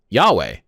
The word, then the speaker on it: Yahweh: their Bible and it's Yahweh I know there's different ways to pronounce it apparently it's supposed to sound like a breath because again I I